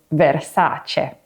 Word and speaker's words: Versace: Another example of this is so it's not but and the same for Versace which is Versace.